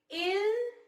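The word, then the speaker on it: ils: We pronounce them as il and elle only.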